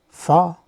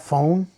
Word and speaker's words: pho: Pho, which is a soup noodle dish from Vietnam. Many of you call it pho because of the way it's spelled out.